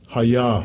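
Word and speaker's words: היה: Strong's H 1961, Hayah, Hayah. And that is the proper pronunciation of that word.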